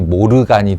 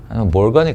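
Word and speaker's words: Morgan: 근데 우리나라가 참 불우하던 시절에 이 영어 발음을 그대로 일본식으로 이렇게 쓰다 보니 모르간이 되었는데 몰간일 거예요.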